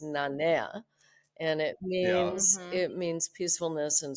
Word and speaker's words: Nanea: Nanea.